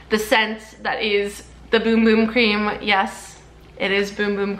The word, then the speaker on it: Bum Bum Cream: It's not Bum Bum Cream. It's on the packaging. I have DM'd them. It's pronounced Boom Boom Cream in Portuguese because Sol de Janeiro is a Brazilian brand.